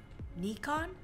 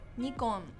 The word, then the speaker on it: Nikon: Again, the I. We pronounce it E, right? So Yeah. N and I. Ni. So, well, it's a Japanese company, so the correct way to pronounce it would be Nikon. Nikon. But in English, we pronounce the I from Nikon as I, so it's Nikon.